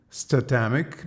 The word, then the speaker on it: Statamic: the the CMS author explained ones that is pronounced stomach because dynamic means static dynamic so basically it's